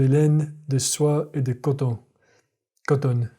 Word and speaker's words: coton: The French, man, they keep that mouth closed. It's not coton. It's coton. It's very closed. De coton.